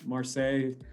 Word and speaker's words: Marseille: year and are you right in marseille uh if i pronounce it wrong oh no it's perfect um i'm outside of